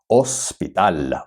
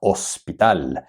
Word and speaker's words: hospital: colegio hospital hospital same spelling but the age is silent hospital hospital for example if you're a doctor you work